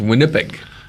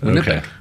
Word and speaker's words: Winnipeg: be in winnipeg um it's pronounced winnipeg is it yeah it's winnipeg make sure when you